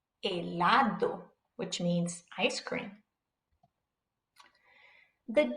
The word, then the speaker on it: helado: The H is silent, so pretend it's not even there. A, E, I, O, U, helado, helado, which means ice cream.